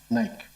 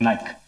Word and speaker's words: Naik: Selina Naik. Is that pronounced correctly? We'll accept it for now. It's Nike.